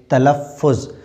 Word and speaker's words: تلفظ: متحرک۔ جیسے تے پہ زبر ہے، تشدید ہے، زبر اور پیش ہے، تلفظ۔ زوئے پہ یہاں پہ کیا ہے؟